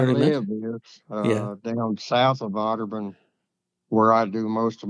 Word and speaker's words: Otterbein: Otterbein.